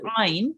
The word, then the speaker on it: ع: It's basically pronounced from the middle of your throat. Okay, so you have to distinguish between Alif and Ain.